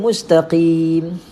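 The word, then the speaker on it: مستقيم: Pastikan tuan-puan huruf qaf jangan kita tukar dengan huruf kaf. Qim tebalkan. Qaf ini sebutan lainnya adalah Q. Q. Mustaqim. Mustaqim, huruf Q. Mustaqim. So ejaannya begini, Q-I-M, mustaqim. Baca dengan tebalkan sebutan dia, mustaqim.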